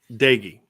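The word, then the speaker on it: Doege: And how do you pronounce that quarterback's name? For West Virginia? Jared Dagey. Dagey.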